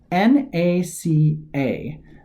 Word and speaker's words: NACA: said in the slide NACA you pronounce each letter of the National Advisory Committee for Aeronautics individually when you say NASA National Aeronautics and Space Administration you pronounce it as a single word this is a small